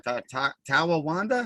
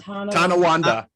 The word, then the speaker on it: Tonawanda: Tawawanda? How do you say that town? Tonawanda. Tonawanda.